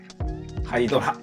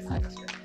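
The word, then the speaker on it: HYDRA: 'Hi-dra' ou 'Hai-dra' ? Oui, l'un ou l'autre. 'Hai-dra' Oh! Correct! Certaines personnes l'ont lu comme "Hi-dra". Oui, c'est aussi possible de le lire de cette façon.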